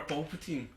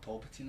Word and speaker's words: Palpatine: Number 1's Emperor Palpatine. Palpatine? Yeah. Who's Emperor Palpatine? Emperor Palpatine from Star Wars. Palpatine. It's Palpatine. It's not Palpatine, is it?